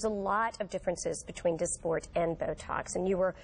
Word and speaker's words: Dysport: And it's called, it's called, and I don't want to mispronounce this, Dysport? Dysport.